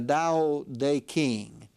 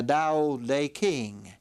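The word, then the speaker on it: Tao Te Ching: book was called the da day King again the D the t is pronounced as a d the da day King and in this small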